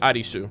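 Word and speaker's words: アリス: So that name right there is Eris or Arisu, which Arisu means Alice in Japanese. That's how you would pronounce Alice in Japanese, like Arisu.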